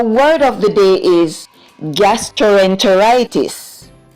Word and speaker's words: gastroenteritis: everyone, our word of the day is gastroenteritis. Say the word. Gastroenteritis. Good job. The word gastroenteritis in syllables are g-as, gas, tr-o, tro, n, t-er, walking together, say t-er, ter, long I sound, I, t-is, tis.